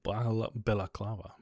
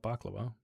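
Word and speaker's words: balaclava: A full bellaclava not baklava.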